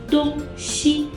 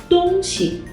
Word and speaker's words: 东西: For example, the word 东西 can refer to the directions east and west when it's read as 东西. But if it's read as 东西, it means things or stuff.